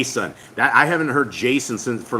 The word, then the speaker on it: Jason: country my name is Jason when I came down here people don't know how to say my name they call me yay son right because Jay's don't have that J sound there's no such thing